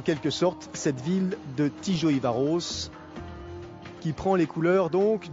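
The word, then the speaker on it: Tiszaújváros: peu près 200 km Tijo ivaros prononcé Tijo ivaros c'est pas simple donc 6e rendez-vous de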